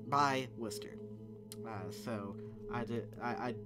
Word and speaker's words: Worcester: from worcester massachusetts and yes that's how it's pronounced uh i grew up right by worcester uh so i did i i don't know